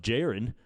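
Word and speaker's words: Jeron: it's probably not pronounced it's probably pronounced jaren which was a much more sensible way to pronounce it yeah i should have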